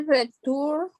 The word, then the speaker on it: return: Sin mucho esfuerzo, Altagracia. Sin mucho, no le ponga tanto énfasis a las diferentes sílabas. Solamente bien fácil y te escuche. Return. Return. Pero no le ponga tanto énfasis a la segunda parte. A la U. Return. Más casi más si fuera ERN al final en el sonido.